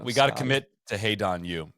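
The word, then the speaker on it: Hae-ran: Kind of similar story to We got We got to commit to Hey, Donu. It's I don't know why. I don't know why, but that's the that's the pronunciation.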